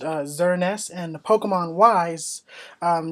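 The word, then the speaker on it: Xerneas: on the Pokemon X Legendary is called uh xernest uh x e r n e s s is pronounced uh xernest and Pokemon wise um name is Eva tall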